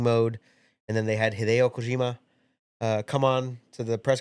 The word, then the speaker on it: Hideo Kojima: Just say it like a normal person. Kojima-san. Hideo Kojima. There you go. Better. You're trying to put an accent on it.